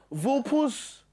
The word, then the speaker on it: Vulpes: I can't pronounce the name of her fashion brand. Vulpes Fafufu. No. Vulpes.